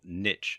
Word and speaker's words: niche: to do is to choose a niche, or niche as some people pronounce it.